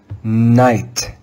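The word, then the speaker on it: knight: The second sound made by the English letter K is the silent K before the letter N. Let's read this word together with a silent K. Night, night, night.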